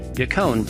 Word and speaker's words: Yacon: Yacon, pronounced Yacon, is said to increase metabolism as well as control appetite and food cravings.